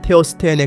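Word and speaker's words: ter Stegen: 네덜란드 국적을 가지고 있다 사실 마르크 안드레의 성도 네덜란드 식이기 때문에 정확한 발음은 테어 스테인에 가깝지만 이미 테어 슈테겐이 아는 표기가 널리 쓰이고 있으니 작은 부분까지 집착할 필요는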